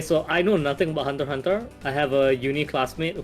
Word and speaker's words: Hunter x Hunter: something you shut up it's pronounce Hunter Hunter the ex is silence Hunter Hunter um n